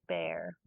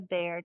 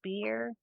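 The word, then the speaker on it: Bhaer: It isn't pronounced either beer or bear, as people will say it, but sometimes something between the two, as only Germans can give it.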